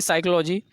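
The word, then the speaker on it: psychology: इन साइकोलॉजी ठीक है है तो इसने कि साइकोलॉजी स्पेलिंग है psychotic2525 नहीं है तो हम इसको बोलेंगे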